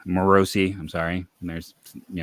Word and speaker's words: Morosi: unfortunately it did not break their way John Morsi morosi I'm sorry and there's you know pronunciation issues uh hit me again uh he